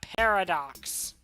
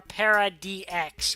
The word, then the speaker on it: Para-DX: But the next rider, which will be Kamen Rider Paradox, or Para-DX, whichever you want to call it, or Parad Deluxe. Like, there's so many different ways to pronounce his name.